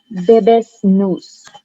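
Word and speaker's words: Bebas Neue: The font that I usually use for Wise is Bebes News.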